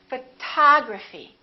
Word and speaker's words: photography: We stress the second syllable. We say photography.